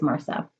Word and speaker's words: Marcia: She's had many renditions of how to say her name, but originally I believe it was Marcia. Is how my grandmother pronounced it.